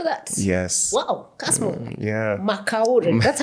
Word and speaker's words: McOure: McOure. That's how you pronounce.